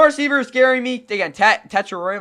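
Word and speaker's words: Tetairoa: Teter. My bad. Again, that's how he wants to pronounce his name. My bad. I'm going to call him Tat, but again, he wants to be called Teter McMillan.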